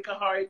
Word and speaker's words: Khari: h e e m i go by but my middle name is um it's spelled two different ways don't worry about that if you just call me kahari should be perfectly fine i definitely love that